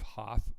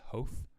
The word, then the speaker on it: Hoth: documentary i was watching where um instead of hoth uh lucas kept calling it hof and it's and he just still calls it